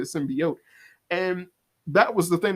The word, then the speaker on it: symbiote: and it was like, no, it's not pronounced symbiote, it's pronounced symbiote because of what it is. It's a symbiotic relationship, so you don't say symbiote, you say symbiote.